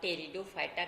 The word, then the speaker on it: Pteridophyta: class कि आज आ टेरिडोफाइटा के बारे में अध्ययन करेंगे कि यह पीस जो है यह साइलेंट है यह पहली दफे ताकि इसको पढ़ा जाता है ए फ्रीडम फाइटर जो